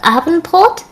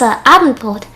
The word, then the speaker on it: Abendbrot: So we do have something called Abendbrot. Sorry, I pronounced it in a weird way. It's Abendbrot. Yeah.